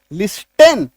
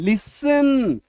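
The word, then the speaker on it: listen: लिस्टेन नहीं टी को काट दीजिए। अभी तो सिखाया कि टी एन दिखे तो टी को काट दो। मन ही मन सोचो वहां पे है ही नहीं। मन ही मन क्या सोचो? है ही नहीं। अब पढ़िए। एल आई एस टी एन लिसन।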